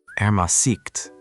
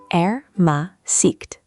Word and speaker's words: Ermäßigt: Ermäßigt. How do I say that? Ermäßigt. The emphasis is on the second syllable. Try it. Ermäßigt.